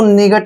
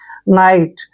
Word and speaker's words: night: Next देखिए, NIGHT, इसको निगट नहीं पढ़ना है, मैं आपको बताता हूं। NI को हम क्या पढ़ते हैं? नाई, नाई पढ़ते हैं, ठीक है। और T से पहले जब भी GH आएगा उसको साइलेंट रखना है। T से पहले जब भी GH आए तो आपने GH को साइलेंट रखना है, और T को टे पढ़ेंगे। नाइट, नाइट, नाइट का आपको